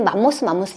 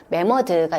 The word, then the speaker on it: 매머드: 그 다음에 나오는 게 이제 우리가 흔히 맘모스 이야기를 하죠. 근데 맘모스가 아니고, 맘모스는 이제 일본식 발음이고 매머드가 있습니다.